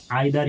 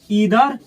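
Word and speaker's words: either: पहले जान लीजिए लोग, आइदर और नाइदर, इसको ऐसे पढ़ा जाता है, आइदर नाइदर, अच्छा है ईदर नीदर, दोनों प्रोनाउंसिएशन सही है। इसको पढ़ा जाता है आइदर, ईदर, नाइदर, नीदर, दोनों सही है।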